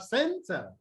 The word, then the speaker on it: center: So in these examples here, you have center. Okay. You have the Schwa sound in center in the ter. Okay. So the stress on the first syllable, and then you have object.